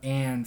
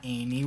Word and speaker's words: Anne: It's pronounced Anne, not Amy.